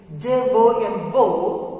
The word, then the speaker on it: Jomo: The pronunciation of this J-O-M-O is Jomo. Why? Because is that the letter J that becomes silent over here.